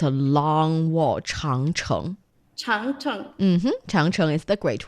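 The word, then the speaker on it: 长城: Changcheng.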